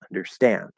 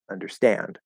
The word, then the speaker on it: understand: tomorrow tomorrow tomorrow but if I say um understand there we have a primary and a secondary stress okay now the primary is is the one that really matters understand understand but there's actually a secondary stress it's actually understand